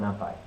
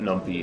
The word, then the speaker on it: NumPy: And import NumPy. Why not? Arbitrary execution. But it's a nice little thing. Definitely pronounced that numpy for like a good 2 years. Yeah. I still pronounce it numpy.